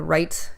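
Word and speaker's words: REITE: going to be the right Club calm right is spelt REI te so it stands for real estate investing training and education club and so really really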